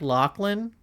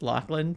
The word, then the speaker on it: Lachlan: It was pronounced like Lachlan. That's pretty funny because I saw it typed out but I don't think I actually knew how to pronounce it. I'm being for real. It's pronounced Lachland.